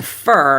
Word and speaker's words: for: the rhythm of English to reduce four to fur you can try a couple of different things you can use the unstressed vowel the uh sound and pronounce it as fur like a fur coat that works but what